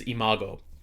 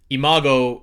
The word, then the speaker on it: Imago: And that is, I believe how you say it is Imago. For everybody that doesn't know, Imago, which sounds a lot like Iago, speaking of Disney, sounds like the parrot from Aladdin.